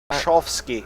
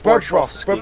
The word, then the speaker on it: Bobrovsky: And there's a person who plays for a team who's called Sergei Bobrovsky. Bobrovsky. No, It's Bobrovsky. Bobrovsky for Chovsky. There we are. Our Russian, of course, isn't that good.